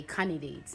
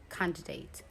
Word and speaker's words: candidate: You don't take the D out and say candidate.